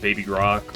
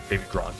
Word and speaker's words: Baby Gronk: Yeah, I got a 2XS on my Hawk 2 Skivity Riz, Unk, Baby Grok, whatever. Baby Gronk, excuse me.